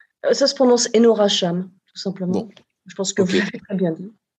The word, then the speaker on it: Enora Chame: identité mais est-ce que je les ai bien prononcé sa cependant ce enora cham tout simplement je pense que bon et ben